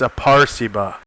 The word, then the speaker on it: Aperceba: Oh, it shows how to pronounce it. It's Aperceba.